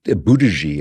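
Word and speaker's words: Buttigieg: you know, this guy, uh, Pete Buddhaji, I believe it's pronounced, the mayor of Southbend, Indiana.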